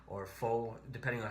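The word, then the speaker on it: phở: And one of the things I did was I had pho or pho, depending on how you pronounce it, which is a Vietnamese noodle soup.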